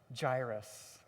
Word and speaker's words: Jairus: It's about this character whose name is Gyrus is how you say that.